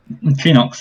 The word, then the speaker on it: Chiinox: you Knox yeah yeah Phoenix is uh how I pronounce it I guess it's supposed to be pronounced yeah where are we